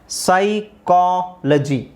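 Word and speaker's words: psychology: ಸೈ ಸೈಕೋ ಸೈಕೋ ಸೈಕೋ ಪಿ ಎಸ್ ವೈ ಇಲ್ಲಿ ಸಿ ಎಚ್ ಓ ಸೈಕೋ ಸೈಕೋ again ಸೈಕಾಲಜಿ ಸೈಕಾಲಜಿ ಸೈಕೋ ಸೈಕಾಲಜಿ ಸೈಕಾಲಜಿ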